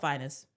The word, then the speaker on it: Fiennes: I'm probably gonna pronounce this wrong. Ralph Fiennes.